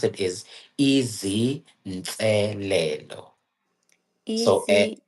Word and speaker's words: izinselelo: So how you pronounce it is Easy Nselelo.